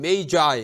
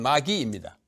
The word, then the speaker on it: magi: 마구스, 이걸 영어로 읽으면 메이거스 이렇게 읽고, 마구스의 복수가 마기입니다. 영어로 읽으면 메이자이 이렇게 읽죠. 라틴은 원래 발음은 마기입니다.